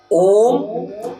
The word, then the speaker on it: ओम: इस ओम के उच्चारण को भी समझने की जरूरत है। जब हम ओम के उच्चारण करते हैं, जैसे लंबी श्वास भरते हैं और फिर ओम 3 शब्दों से बना है, आ, उ और म।